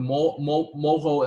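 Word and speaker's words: Moreau: Okay, so this is what we call the Moho envelope. So the reason why this Moho is pronouncing this funny way is that it's not really. So this R is this Ch sound from French German.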